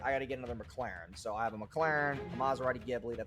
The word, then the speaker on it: McLaren: because he couldn't pronounce McLaren he says the name wrong like eight times in a row it's not McLaren it's McLaren okay so that's how he